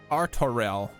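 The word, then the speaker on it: Artoirel: you have to promise arturelle your assistance is most welcome lord arturo to arms then friends time is against us artorel good now they've heard it in game i can pronounce it properly thank you my brain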